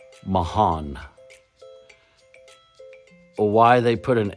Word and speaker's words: Marans: name of the town in France is called Mahan m a r a n s Mahan why they put an H in there there